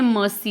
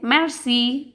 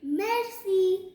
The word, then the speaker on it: merci: You will not say mercy. You will say merci. Repeat after me. Merci.